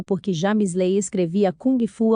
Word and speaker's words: kung fu: que James a via kung fu ao invés de gung fu que era o modo que mais parecia com a pronúncia em cantonês James Lee falou que